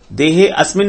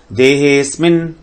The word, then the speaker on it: देहेस्मिन्: अधियज्ञ कथम कोत्र देहेस्मिन्, देहे, हे को थोड़ा आगे लेंगे। देहेस्मिन्, देहेस्मिन्, देहे अस्मिन् नहीं कहेंगे। देहेस्मिन् मधुसूदन प्रयाण काले च कथम ज्ञेयोऽसि, ज्ञेयोऽसि नहीं कहेंगे।